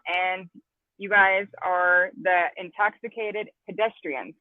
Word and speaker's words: Intoxxikated Pedeztrianz: But welcome, and you guys are the Intoxicated Pedestrians, correct? Did I say that right? Correct.